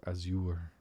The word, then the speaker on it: azure: what comfort you may interesting hearing it pronounces as you are as you are azure I just thought it was azure Azure Dragoon but it's as you were as in like as you were as you were anyway